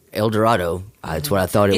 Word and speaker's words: El Dorado: elevator that said direito is pronounced like tornado so that's how I know well priority prior to getting there I was like Eldorado that's what I thought